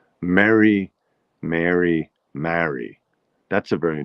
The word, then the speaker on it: Mary: from, which was Maryland, these three words are pronounced identically. They're all pronounced Mary, Mary, like Merry Christmas, Mary from Chicago, and um, will you marry? Will you marry me? Will you marry me? It'll be Mary.